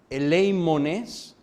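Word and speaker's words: ἐλεήμονες: La palabra misericordiosos literalmente se escribe de esta forma en griego, que se pronuncia eleimones, significa compasivos.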